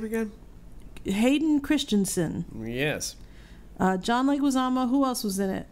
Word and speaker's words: Leguizamo: in the world John Leguizamo yes can you tell me why you say his name is leg azama like Osama it's like we tell